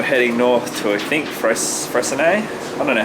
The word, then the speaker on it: Freycinet: north to, I think, Freycinet. I don't know how to say it. It says it's spelled like Freycinet, but it's not. But yeah, I think it's Freycinet.